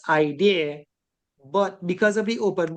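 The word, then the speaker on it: IDERR: d e r r and that's kind of pronounced idea but because of the open book exam there's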